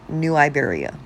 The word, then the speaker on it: New Iberia: My town is called New Iberia. The only thing other place remotely rhyming with that is Liberia.